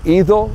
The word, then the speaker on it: ido: Me ha ido bien. Four words. Me ha ido bien. And keep in mind that the D in Spanish is pronounced like a TH in English.